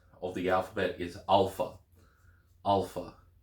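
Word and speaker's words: άλφα: of the alphabet is alpha alpha it is pronounced a as in Father Alpha the next letter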